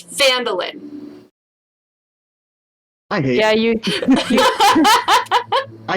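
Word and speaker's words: Phandalin: Phandelver, it's Phandelin. It's so weird that you say them different. It's Phandelver. It's the Lost Mine of Phandelver, I think. Yeah, it's Phandelver, but it's Phandelin.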